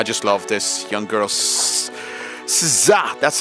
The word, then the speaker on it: SZA: SZA, that's how you pronounce her name, of course.